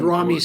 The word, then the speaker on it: Ramy: And if I call him Ramy, that's wrong. It's Ramy, like do, re, mi.